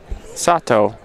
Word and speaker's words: Sato: Deli Creations, thank you for changing how we're pronouncing Sato. Hayato Sato. Ah, perfect. Sato.